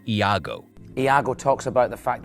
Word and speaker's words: Iago: as it turns out the character's name isn't Lego it's Iago Iago talks about the